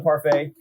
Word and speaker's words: parfait: we're drinking our lemon parfait it's a sour beer with lemon granola coconut and vanilla and a little yogurt essence who decided not to pronounce the t in parfait hmm that's a good